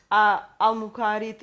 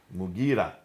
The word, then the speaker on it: Mughira: Sorry for the pronunciation. Qais. In Syria, Al-Muqarid ibn Shuba. Mughira ibn Shuba.